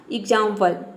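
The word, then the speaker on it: example: वल आया है तो यहां पे हम आधा ग और ज के साउंड में प्रोनाउंस करते हैं तभी इसका प्रोनंसिएशन होता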